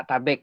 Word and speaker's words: tabek: kedua kata A dan tabek gitu kan. A dan tabek. A itu ada dua pengertian, boleh atas, boleh anak. Okay. Nah, kalau tabek itu sebenarnya pengucapannya itu tabe. Kan. Ucapan Minangnya tabe gitu.